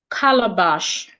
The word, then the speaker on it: calabash: Another example based on that rule I mentioned is the word colorbash. Colorbash. So in this word as well we stressing the first syllable cal.